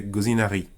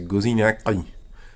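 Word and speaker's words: gozinaki: Alors si tu ne sais pas prononcer le O, que moi-même je prononce pas très bien, tu peux faire un R roulé. Si tu le disais rapidement, ça fait gozinari. Mais c'est pas la bonne prononciation, c'est gozinakri.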